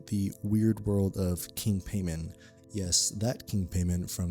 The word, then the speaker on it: Paimon: Pronunciation note right off the bat: Paimon, Paimon. The movie goes with Paimon, so I'm just going to be sticking with that for this episode.